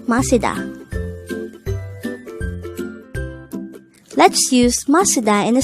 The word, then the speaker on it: 마시다: The word Masida could be divided into 3 syllables. Masida. Ma is formed from the combination of the sounds of miyum and a. Si is formed from the combination of the sounds of siyot and e, while da is